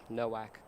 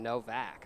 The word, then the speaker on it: Nowak: We'll see if they can continue to build off that with Nowak on first, sorry. Gotta correct the pronunciation. I know that one had us shocked because I thought it was going to be Novak.